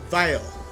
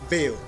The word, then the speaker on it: Vale: So Eldrick Vile. Am I pronouncing that correctly? Vale. Okay.